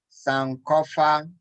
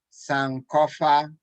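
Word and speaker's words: Sankofa: akua akua fante fante cawano pado caguano pado sancofa sancofa thank you so much dad for taking the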